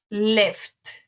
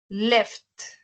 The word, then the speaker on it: left: Bueno, eso se pronuncia es este el azulito y se pronuncia left. Left. Con la T al final. Left.